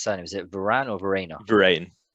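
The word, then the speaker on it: Verreynne: How do you pronounce his surname? Is it Varane or Verena? Varane.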